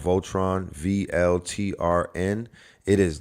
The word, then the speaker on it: VLTRN: It's spelled Voltron, VLTRN.